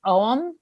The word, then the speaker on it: Ogham: And actually, kind of interestingly, the last time I went to Ireland, there are these they're called it's spelled Ogham, but it's pronounced Ogham.